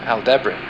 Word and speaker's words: Aldebaran: Taurus' brightest star is pronounced Aldebaran.